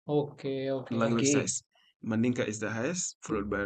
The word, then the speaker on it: Mandinka: Manika. Mandinka.